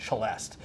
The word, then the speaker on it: celeste: The English, who do their own thing, call it a celeste. And Americans sort of like cram the two together and call it a celeste.